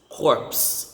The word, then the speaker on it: corpse: s next is corpse corpse silent e that body again core